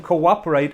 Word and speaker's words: cooperate: But verbs which have ATE at the end are pronounced ate. Ate.